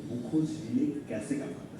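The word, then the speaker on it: Buchholz: हम जानेंगे कि बुखोज रिले कैसे काम करता है। सबसे पहले हम जान लेते हैं बुखोज रिले आखिर क्या है। আচ্ছা, এটার প্রোনাউন্সিয়েশনটা হচ্ছে বাকলস রিলে, ঠিক আছে?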